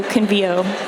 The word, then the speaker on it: Convio: but actually in English, apparently, I'm married to a linguist, we put the stress on the second to the last syllable in many cases, so convio.